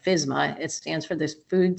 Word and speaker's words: FSMA: the initials FSM there that's usually pronounced like fsma it stands for this